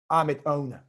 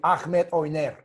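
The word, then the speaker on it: Ahmet Öner: Look, Avni Yildirim is managed by Ahmed One, you call it, or if to pronounce properly, Ahmed Oyner.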